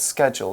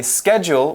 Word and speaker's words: schedule: And did you know it has two pronunciations too? Really? We can say schedule. We can also say schedule.